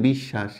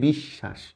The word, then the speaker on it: বিশ্বাস: বিশ্বাস নিঃশ্বাস রাজত্ব অশ্ব দেখো পড়ার সময় প্রত্যেকটা লেটার বফালা যেখানে যেখানে আছে মানে শব্দের মাঝখানে এবং শেষে যদি ব ফালা থাকে তাহলে যে লেটার সাথে থাকে যে বর্ণের সাথে থাকে সেটা ডাবল হয়ে যায় যেমন নিঃশ্বাস এখানে তালবস